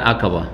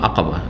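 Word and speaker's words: عقبة: এটাকে অনেকে কিন্তু ভুল উচ্চারণ করে, আমাদের দেশের লোকেরা, শুধু লোকেরা না, অনেক মাদ্রাসা পড়ুয়ারাও ভুল উচ্চারণ করে, কারণ ওস্তাদ থেকে ভুল শিখেছে তো কী করবে। জামারায়ে উকবা বলে, আকাবাকে কি বলে? উকবা বলে অনেক।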